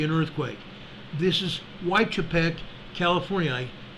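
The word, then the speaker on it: Weitchpec: there you see an earthquake this is why Chipette California it's it's spelled w-e-i-t-c-h-p-e-c California it's a 2.39 earthquake here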